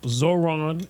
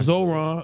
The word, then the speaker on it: Zohran: Uh Zoron. Is that how we pronounce his name? Zoron. Name Zoron. Zoran.